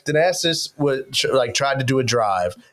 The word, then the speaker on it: Thanasis: How do you pronounce it? Thanasis. Thanasis.